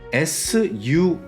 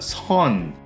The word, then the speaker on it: sun: 그래서 우리 태양할 때 sun 있잖아요. 그거 시옷으로 읽으면 안 돼요. 쌍시옷 발음이에요. sun, sun. 근데 시옷 발음 읽으면 선, 선, 선.